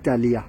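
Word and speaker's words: Ptelea: And this is Telea, P is silent, Telea trifoliata.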